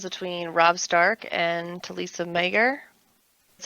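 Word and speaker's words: Maegyr: Been watching the interactions between Robb Stark and Talisa Mager. That's how you pronounce her last name.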